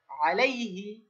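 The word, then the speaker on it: عليه: লাম ইয়া ফাহা লাই আইনটাকে একটু গলা মোটা করতে হবে আলাই আলাইহি কি উচ্চারণ আলাইহি আরেকবার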